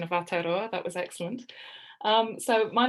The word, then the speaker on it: Aotearoa: Next up, we have expectations and realities, post-prison housing in Aotearoa, New Zealand.